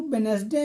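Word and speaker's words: Wednesday: पहला है डे तो वेनसडे में डी पूरी तरह साइलेंट है दूसरा है साइन तो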